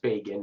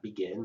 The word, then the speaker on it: Begin: And it's pronounced Begin, not Begin. Menahem Begin.